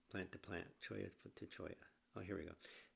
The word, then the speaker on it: cholla: Choya to choya. Oh, here we go. How to spell how to pronounce it? Choya. Choya. Choya. Chiaoya. Okay. Has that Spanish ina sound that the double L makes.